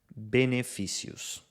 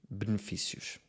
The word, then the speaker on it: benefícios: Duas palavras em que se vê bem esta diferença são estas. No Brasil pronunciam-se colesterol e benefícios. E em Portugal pronunciam-se colesterol e benefícios. Como pudeste constatar, esta compressão das sílabas átonas no português de Portugal faz com que algumas vogais não sejam pronunciadas. A vogal que mais omitimos é o E átono, que faz o som I. Colesterol fica colesterol, benefícios fica benefícios.